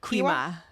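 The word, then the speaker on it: Gwi-Ma: Quima. Huh? Quima. So he says she holds my mark, right? She holds my mark, but I can't control her. So my question is, did her mama sleep with Quima?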